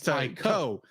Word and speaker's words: Taiko: I'm guessing it's Taiko. Taiko. Not Taiko. Yeah, Well, you're thinking of Taito, but this is Taiko. That's right. Yeah. Taiko. I'm thinking it rhymes with Taito, which is a Japanese video game developer.